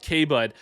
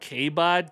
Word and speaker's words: Kbud: If I could go back in time with Kbud, I had a lot of issues with people being like kbad.